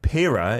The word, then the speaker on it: Pira: Your band, Pira, is that how I pronounce it?